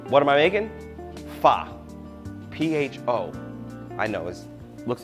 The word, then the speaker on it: pho: P-H-O. I know it looks like pho, but it's not. It's pronounced pho.